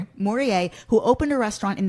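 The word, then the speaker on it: Morellet: Morier, who opened a restaurant in the meatacking district in the 80s.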